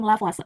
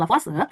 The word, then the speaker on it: Lavoisier: Yang pertama kita bakal belajar yang disebut dengan hukum kekekalan massa atau hukum Lavoisier. Jadi kemarin aku sering bacanya hukum Lavoisier gitu, tapi kata dosen aku misalnya karena dia tuh dibaca hukum Lavoisier.